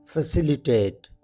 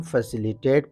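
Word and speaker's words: facilitate: कहते हैं Flutter फैसिलिटेट फैसिलिटेट इस लफ्ज को हम फैसिलिटेट प्रोनाउंस करेंगे फैसिलिटेट प्रोनाउंस करना सही नहीं फैसिलिटेट की मीनिंग है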